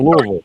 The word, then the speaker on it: Louisville: In Louisville.